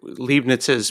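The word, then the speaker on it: Leibniz: So the concept of modity though you're saying that like Libnets's perspective libons how do you say it?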